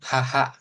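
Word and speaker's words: はは: Haha. Nah, ini bacanya haha bukan wawa ya.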